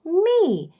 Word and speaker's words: mi: so very good and the low note we call me and it's spelled m-i okay and the hand